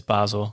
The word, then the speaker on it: Basel: Yeah, it's Basel.